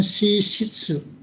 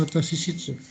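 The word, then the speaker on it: 私室: Kemudian watashishitsu, salah ini, shishitsu ya dibacanya. Ini dibacanya shishitsu, nggak usah, bukan watashishitsu, shishitsu.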